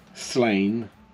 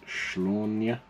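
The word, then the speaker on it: Sláine: is 2000 ads um slain but I think it's now pronounced schlawnya which is like the Irish Celtic way of pronouncing it if there's been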